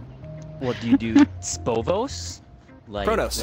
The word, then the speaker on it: Xpovos: Chronos. Like Dr. Xavier? I go by, Chronos, Xpovos works. Wait, where's the C come from? The is the Chi. Chi, Rho, Omicron, New, Omicron.